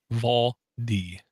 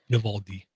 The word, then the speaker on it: Vivaldi: And for those audio listeners, Vivaldi, Vivaldi. Very cool. Once again, Door doesn't give himself enough credit for correctly pronouncing something.